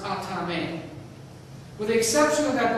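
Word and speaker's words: athame: exception of the ceremonial killing knife called an atame now it's spelled it looks like aan a t h but it's pronounced atame with the exception of that black handled killing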